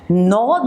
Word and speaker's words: gnaw: Now moving further on, we have animals that gnaw the food. G is silent over here.